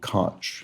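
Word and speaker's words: Koch: 1980s New York New York mayor Ed Cotch. There we go. Looks like you might pronounce it Ed Ko, but not in this particular case.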